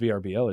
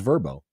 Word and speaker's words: Vrbo: payroll you mean verbo it's pronounced vbo isn't it no it's pronounced verbo is yeah they always say verbo in their commercial ni's doing verb it's